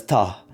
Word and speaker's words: está: For example, the word está can be pronounced as ta in certain contexts, like taki, right?